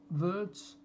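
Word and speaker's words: Wirtz: Is that how you pronounce him? Florian Verts. Yeah, that's right.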